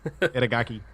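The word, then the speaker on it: 板垣: Yeah, it's Itagaki. Itagaki is his last name, and I can say that, so there we go.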